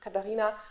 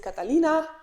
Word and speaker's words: Katarina: i'm actually kate because katarina no one really understands it and they say either or is it catalina which is like the spanish pronunciation kind of or something else the